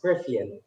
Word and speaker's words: Griffin: your surname rygra elves else is correct but it's griffin griffin i'm sorry about that there